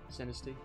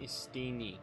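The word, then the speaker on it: Steenee: Sinisty? It's Steen. No, S-T-E-E. Steeny.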